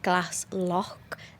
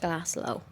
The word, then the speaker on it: Glaslough: I believe it is Glass Lock, not Glass Low.